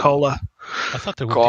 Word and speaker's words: Kola: It's not koala. It's Um, cola.